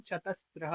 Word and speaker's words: चतस्रः: तो इसका उच्चारण चतस्रः होगा। चतस्रः। ना कि कोई इसको ये ना समझ ले कि ये ये ऐसे लिखा हुआ है। ठीक है, ये नहीं लिखा, ये ना समझे कोई, ये चतस्रः हो जाएगा। इस पे चिंतन था क्योंकि इसका गलत करते हैं उच्चारण।